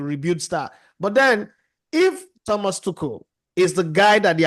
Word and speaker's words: Thomas Tuchel: I think it's pronounced Thomas Tuchel, if I got that pronunciation right. Oh, yeah, Mario said I got it right.